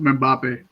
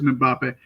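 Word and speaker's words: Mbappé: And before I keep going forward, I believe that Kylian's last name is pronounced Mbappe. If I'm wrong, the internet will correct me, but I'm pretty sure it's Mbappe.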